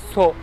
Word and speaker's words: Sceaux: Sceaux yazılır ve Sceaux okunur. Hangi aklı evvel onu bu Sceaux'u Sceaux okumuş, neden Sceau yazmamışlar?